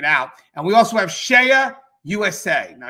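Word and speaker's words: CEIA: And we also have Shea USA. Now, Shea USA, Shea is spelled C-E-I-A.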